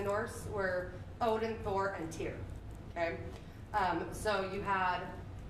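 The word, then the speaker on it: Týr: and it is pronounced tear like the tear of a cake or oh i guess it would be easier to be like there's a tear coming on my eye that's a little bit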